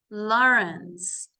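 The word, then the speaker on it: Laurens: a first meeting and Matt's surname is lawence now it sounds the same as this one Lawrence but the spelling is L Au R NS okay so I hope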